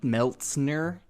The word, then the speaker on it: Meltzner: where people can't pronounce meltzner correctly yeah it's not that hard of a name to It's pronounced the way it looks a weird it's a weird thing to get like hung up on meltzner Milner I don't know